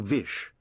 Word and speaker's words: Vish: His father had always addressed him by his full name, Vishwas, which the detective had later shortened to Vish, because it rhymes with wish, and Vish Puri could be taken to mean granter of wishes.